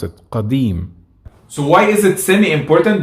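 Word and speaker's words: قديم: In Masri, for example, we don't pronounce qa, we change it to a, which is something I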